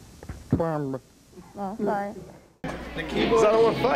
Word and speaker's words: Gwamba: It's pronounced Gwamba.